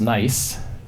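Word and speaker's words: gneiss: one is is a rock called nice pronounced pronounced nice and that's just a about a mile or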